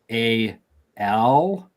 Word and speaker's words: Hal: actually go like this, A-L." So now looks like. But what I say is the H is silent. So it's just Al.